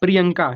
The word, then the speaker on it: प्रियंका: यही आपको समझना पड़ता है यहां पर प्रिय यनका प्रिय हो रहा है फिर य हो रहा है फिर न फिर क प्रियंका ठीक प्रिय यन का